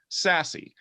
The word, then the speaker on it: SASE: probably heard of it secure access service edge pronounced sassy what is it is